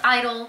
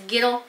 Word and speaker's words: (G)I-DLE: you know their company my name is idol with a silent g in this house it's girl if you put a g i'm gonna pronounce it it's giddle so giddle just drop